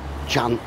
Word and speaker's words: Trần: Restauracja, która nazywa się, powiedzielibyśmy po polsku, Tran Tran, chociaż to się wymawia jako Cian Cian.